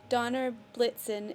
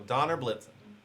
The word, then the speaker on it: Donner Blitzen: So Donner Blitzen is pronounced like the Santa reindeer. I thought so. So it's pronounced like the reindeer.